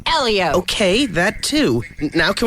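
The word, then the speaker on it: Hélio: he wins and I like saying his name Helio Helio Helio come on he won the Indy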